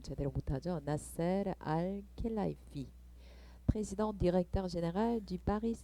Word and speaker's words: 나세르 알켈라이피: 나세르 알켈라이프라는 분으로, 제가 발음을 좀 제대로 못하죠. 나세르 알켈라이피, président directeur général du Paris Saint-Germain이라고 써있죠.